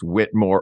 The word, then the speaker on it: Whittemore: I have to say it like that because there's that little extra vowel in the middle, and I don't know whether it's pronounced Whitmore or Whittemore. So I just say it fancy to disguise that. Whittemore, thank you for the topic.